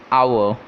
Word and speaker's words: hour: This is, its actual pronunciation is hour, okay, and the word here starts with a, so an before it, an hour.